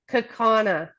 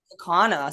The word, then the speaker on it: Kaukauna: Kakana. Kaukauna.